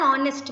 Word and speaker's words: honest: An honest man, O sound, the H is silent.